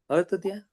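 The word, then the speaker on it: Arta dhyana: Sorry, sir, could you just tell me the pronunciation of this earth? Is it Artadhyan? Artha. Artadhyan.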